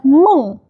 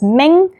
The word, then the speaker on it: Meng: I'm Meng, and it's Meng's Family. A lot of people pronounce it as Meng. It's not Meng, it's Meng, like you say with your throat.